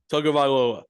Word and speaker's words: Tagovailoa: Tagovailoa. I don't know how to say his last name. Tagovailoa.